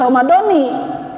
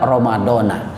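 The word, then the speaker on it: Ramadhana: niatnya sudah ada nawaitun ini jangan dibaca Romadhoni yang tidak digabung dengan kalimat yang lainnya Kenapa kullihi di sini bukan berbentuk kalimat tetapi ini Badal daripada Ramadan bukan Mudus maka dibacanya tetap Ramadan niatnya sebulan penuhnya tolong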